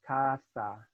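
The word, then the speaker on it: caza: other words of clothes anything that has a Z in it like katha which is not casa casa is a house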